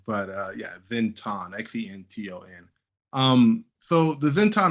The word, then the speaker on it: Xenton: think the o is kind of like a long o sound i'm not a like a i don't know grammar grammar person but i don't know how to what people that know how to pronounce what pronunciation pronunciation is i don't really know me neither i don't know the o is supposed to be long but uh yeah zinton